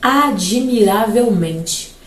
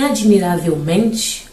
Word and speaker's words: admiravelmente: mas mente fica admiravelmente ele diz que em admiravelmente o m é é a sílaba tônica logo é uma paroxítona me vejam comigo admiravelmente então o Men realmente a sílaba tônica é uma paroxítona só que o autor diz que o ra também terá uma segunda intensidade ali é uma sílaba que aparece é como se fosse no segundo lugar e aí essa sílaba será então subtônica o autor vai definir como subtônica admiravelmente então orá é uma